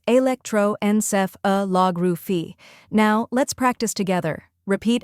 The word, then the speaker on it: electroencephalography: The correct pronunciation is electroencephalography. Start with electro, just like electric but shorter. Next, enceph. Think N, then ceph, and a soft Finally, lography. Emphasize log and end softly with ruphy. Altogether, it's electroencephalography.